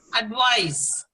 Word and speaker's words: advice: Next one, advice.